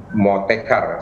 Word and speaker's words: Motekar: kasih untuk bahwa program motekar saya menyebutnya motekar tapi pelafalannya moteka moda transportasi Karawang kalau